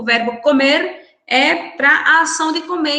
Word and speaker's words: comer: Después tenemos aquí otro verbo que es el verbo comer, que só vai mudar um pouquinho na pronúncia, né? Comer, a gente pronuncia o R um pouco mais acentuado, e que em espanhol